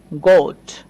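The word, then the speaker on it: goat: বানানটা একটু খেয়াল করেন, এটা আমরা উচ্চারণ করি গোট। গোট মানে হচ্ছে ছাগল। তো এই যে ও প্লাস এ পাচ্ছি, তাই ওকে ও এর মতো উচ্চারণ করছি।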